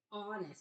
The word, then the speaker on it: honest: we have Hest okay honest remember that H is silent and honest and then